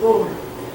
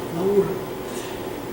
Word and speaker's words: Laura: Petrarch and his beloved Laura, probably you pronounce it like Laura, but in Italian, Laura.